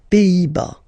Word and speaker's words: Pays-Bas: Final S here, not pronounced. Same thing here. Pays, and then bas. Les Pays-Bas.